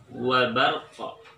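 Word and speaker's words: وبرق: goribahnya adalah pada kata wabarqa. Saya ulangi, maka yang termasuk ayat goribahnya adalah wabarqa. Oke, diulangi sekali lagi, wabarqa. Jadi setelah pengucapan roh pada kata barkun, harus ada qalqalah yang mengikuti pada kata tersebut.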